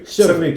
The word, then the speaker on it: Crvik: at the winery the water is called the cerevic did i pronounce it correctly almost yeah survey cervic is the last name of the wine makers